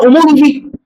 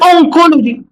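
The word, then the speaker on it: oncology: في حاجه اسمها اومولوجي؟ لا، هقول اونكولوجي. هقول ايه؟ اونكولوجي.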